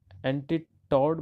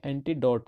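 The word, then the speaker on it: antidote: एंटीटॉड, मेरे को बार बार ये वर्ड आ रहा है, ये एंटीटॉड नहीं है, प्रोनाउंस करने में गलती हो जाती है, एंटीडोट है।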